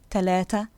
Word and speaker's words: تلاتة: The letter th is never ever pronounced th in Egyptian dialect. In fact, most Egyptians will struggle to pronounce the th even when they're speaking Fusha. So the th becomes one of two things. In some words, it becomes a t, as in the numbers اتنين, تلاتة, تمانية.